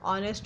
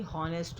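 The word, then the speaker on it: honest: जैसे ऑनेस्ट होता है, ना कि हॉनेस्ट होता है।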